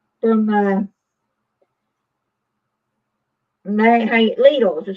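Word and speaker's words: Lidl: have this yet came from Littles it's a little chopper from uh and they hate leaders is how you pronounce it American say little it's little grocery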